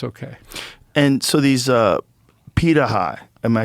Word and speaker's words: Pirahã: And so these Pitaha, am I saying it right?